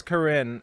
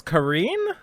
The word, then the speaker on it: Karin: up with pronunciations so I thought it was Corrine or Karen at first and then something came out and called it Corrine and now it's Karine so she was her